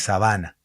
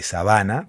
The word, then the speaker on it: sabana: no es sábana, es sabana. Bueno, depende de dónde le pongas el acento, ¿no? Depende de dónde pongas el tilde, depende cuál sea la sílaba tónica. Si uno habla de sabana, también puede hablar de sábana, ¿no?